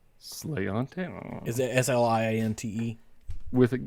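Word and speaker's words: sláinte: leave schreiber's slaint Irish whiskey what is it sliante slayante is it s-l-i-a-n-t-e with it yep that's a that's a there's a specific pronunciation of that and uh cheers yeah is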